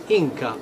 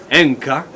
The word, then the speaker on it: Inca: Something you must know, this is that actually that the word Inca, or really the real pronunciation, which is Enca, means the son of the sun.